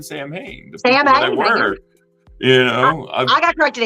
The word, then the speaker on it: Samhain: It's the Nog is actually pronounced no. I did not know this. I said Sam Hain forever, so don't shoot me.